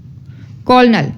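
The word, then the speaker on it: colonel: ओ silent letter अब हम लोग पढ़ेंगे ओ साइलेंट लेटर को कोलनल ठीक है यहां पे हम लोग ओ क्या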